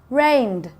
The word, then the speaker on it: rained: Rained. It's the soft D sound.